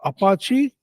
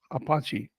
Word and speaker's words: Apache: Then you have Apache.